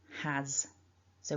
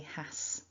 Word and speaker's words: has: we write the word we spell it with an s but it's actually pronounced with a voiced z sound has so we don't say hass it's has has and